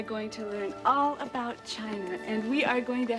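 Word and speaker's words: Qin: the Great Wall of China was designed by the emperor Quinn whose aspiration Excuse Me Miss Seymour it is pronounced chin oh thank you Mr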